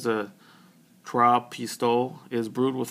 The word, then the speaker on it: Trois Pistoles: So the 3 that come in the package are, let's see if I can say it right, Trois Pistoles.